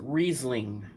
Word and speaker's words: Riesling: Anthony, it's pronounced Riesling. Riesling.